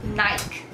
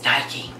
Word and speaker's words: Nike: In South Africa, we would say Nike instead of Nike. Which is the shoes, the athletic wear, just do it. They pronounce it Nike.